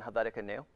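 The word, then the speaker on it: Helvetica Neue: So the whole thing is done in Helvetica New, or Nua, depending on how you say it.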